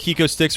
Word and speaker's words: HecoStix: Real quick, we want to thank Hiko Sticks for sponsoring the show. It's spelled HECOSTIX.